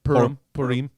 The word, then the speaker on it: Purim: Purim. Yeah, they're celebrating. All right, sure. And it's funny. It's Just the name of jacking the off. holiday. Purim. It's like pour 'em up, pour 'em out, Purim.